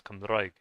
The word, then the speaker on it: Cymraeg: Or I know the language, instead of it being pronounced as Welsh, it's also pronounced as Cymraeg. So you really roll the R's, and so that's makes me think about my Scottish friend Josette.